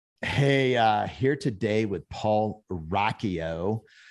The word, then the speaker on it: Rocchio: Hey, here today with Paul Rocchio. It's not spelled, it doesn't look like that's how it's spelled, but his last name is a very cool last name, Rocchio.